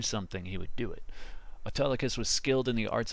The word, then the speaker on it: Autolycus: So anyways, Autolycus, spelled like auto, like an automobile, and then Lycus, or the wolf itself, was a thief who